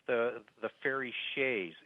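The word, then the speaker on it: sidhe: about uh fairy mythology it's the the fairy Shay s d h e it's it's SP it's pronounced different than what it what it's spelled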